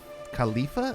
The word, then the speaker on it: Khalifa: what i mean the uh the burj khalifa khalifa is how you say it burj khalifa verse